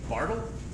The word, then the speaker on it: Bartle: called the uh I don't know how to pronounce this person's name. Bartle. Bartle.